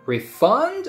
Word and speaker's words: refund: refund or refund again if it's a noun first syllable gets stressed refund if you said I will refund your money I will refund your money it's a verb but if you say I will get you a refund as a noun refund the first syllable is stressed you got it you